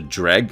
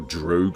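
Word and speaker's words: Dreugh: at this time, as the Dreg as the game pronounce it, or Droog as you write it, according to the Daggerfall user guide, were rumored to be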